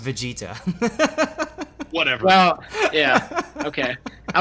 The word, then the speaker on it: Vegeta: for me as well yeah afraid not it's pronounced vegeta whatever well yeah okay i was trying to